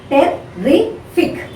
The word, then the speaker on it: terrific: Now here see, terrific. Okay. Now terrific. Now see, now fic is the word. Terrific. So you are putting the stress on the terrific. Terrific we'll say.